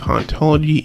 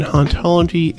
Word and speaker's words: hauntology: You see, in Derrida's native French, the H in hauntology is silent, being pronounced identically to the word ontology, which is the study